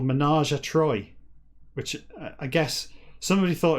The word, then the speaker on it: Troi: It's just she's Troy, right? Councillor Troy. It's not pronounced Trois.